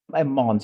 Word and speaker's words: Mons: at your stall called Mong cheesemonger. I'm probably butchering the accents here. Yeah. No, no, it's Mons. You can pronounce the S.